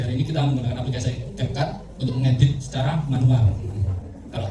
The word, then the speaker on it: CapCut: Nah ini untuk pelatihan pada pagi hari ini kita akan menggunakan aplikasi CapCut. CapCut. Ya, CapCut bacanya. Tapi kadang kita kan nyebutnya capcut. Capcut. Cuma kok agak saru.